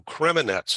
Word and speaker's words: Kremenets: And you relocated to Kremenets. Am I pronouncing that right?